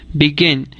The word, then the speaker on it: begin: última consonante por ejemplo begin tiene el acento en la segunda sílaba así beginning queda escrito